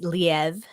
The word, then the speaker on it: Liev: the first X-Men movie played by different actor leave shriber uh played it's actually pronounced leev okay well I know him as the voice